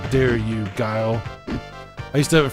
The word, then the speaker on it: Guile: How dare you, Guile? I used to have a friend of mine that would always call this guy Gilly. He's like, oh, you're using Gilly. His name's Guile.